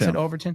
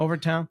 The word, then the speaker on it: Overtown: in this place called Overton. Yeah, that's how you pronounce Overtown. it, Overtown. Yep.